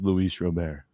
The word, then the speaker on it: Luis Robert: to you too apparently Louise Robert's name is Luis Robert yes yeah would you